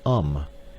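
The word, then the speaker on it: homme: a piece of bark he learned from darno that it was pronounced um and in the same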